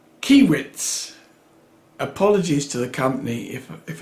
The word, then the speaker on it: Kaiweets: just so you know i think it's pronounced key widths apologies to the company if i've made a huge mess up of that name keowitz i would imagine and